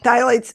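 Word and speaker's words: phthalates: another you know yeah exactly I know and thights and it's spelled everybody p h t h a l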